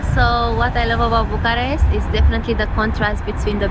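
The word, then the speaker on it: București: what are the two things you like or love about Bucharesti? Did I say it right? Bucharesti.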